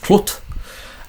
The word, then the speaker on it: clwt: currently spelled like this clwt pronounced quote um what I would